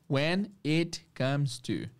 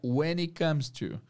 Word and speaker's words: when it comes to: when it Comes To when it comes to a esse it é um pouco reduzido então a pronúncia fica when it Comes To when it Comes To